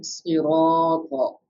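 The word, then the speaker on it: صِرَاطَ: And then siroto. Again alif madda. Why we are stretching the raw? Because alif madda.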